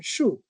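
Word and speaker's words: 木: It has a pronunciation shoe and it has a meaning which is tree.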